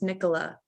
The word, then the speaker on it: Nicola: talking about it earlier my name is pronounced nicola nicola okay now you now